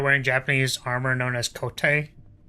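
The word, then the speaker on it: 籠手: See if you're wearing Japanese armor known as kote, which sounds like coat but isn't pronounced that way.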